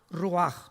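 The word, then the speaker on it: רוּחַ: h y otra vez cuando es la ch se pronuncia como jota rúa muy bien de acuerdo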